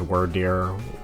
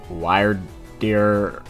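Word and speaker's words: Wyrdeer: I think it's pronounced Wordeer, Wiredeer, Wiredeer.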